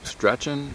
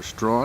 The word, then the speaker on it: Strachan: to the top of Mount Straten Sten or straw as it's variously pronounced Daryl and I have